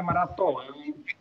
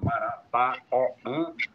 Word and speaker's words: Marataoã: porque muita gente diz, até pronuncia errado, chama Maratoã, tem gente que gagueja quando vai dizer esse nome. Então, eu acredito que ele ficar, como está agora na grafia moderna, Marataoã, vai ficar mais fácil dessa comunicação.